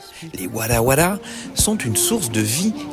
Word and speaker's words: Wara Wara: La prononciation se rapproche de war qui signifie nous et qui désigne un collectif. Les wala sont une source de vie qui émane de la nature.